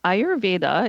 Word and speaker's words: Ayurveda: Um Ayurveda it's spelled for people who don't know a Y u ray and then va v da.